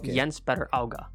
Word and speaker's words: Jens Petter Hauga: Jens is how it's written, but Jens Petter Auga.